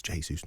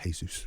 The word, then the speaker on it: Jesus: saying when he's Jesus it's Portuguese it's Jesus not Jesus get it right guys so sorry about that